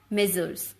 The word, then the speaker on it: Messrs: In place of the designation before the name of the company, you can write M/S or M/S, pronounced as Messrs.